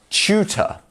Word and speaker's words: tutor: Next up, we have tutor. Tutor. So as you can see here, the T and the U is pronounced like a CHU. Chew. Chew. So tutor, not tutor, it's tutor.